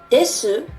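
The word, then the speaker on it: です: Why do DESU and MASU sound like des and mas? When you say these words, you actually pronounce the vowel u, but the vocal cords don't vibrate enough, and you can't hear the sound u well.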